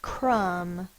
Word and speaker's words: crumb: the next word is crumb sounded out K uh M closed syllable the vowel is short uh the next word